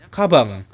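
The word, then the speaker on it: かばん: itu artinya tas tapi karena n-nya ada di terakhir kosakata maka kita bacanya kabang Oke kabang gitu ya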